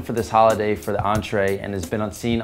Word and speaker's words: Entree: represented Brooklyn New York entree spelled and pronounced like the French word is a brand founded